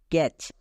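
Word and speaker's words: catch: দেবো তাহলে কি হবে সি এ টি সি এইচ ক্যাচ ক্যাচ আমরা সবাই জানি সি এইচ এর আগে টি বসলে টি এর উচ্চারণ হয় না কেন হয় না আই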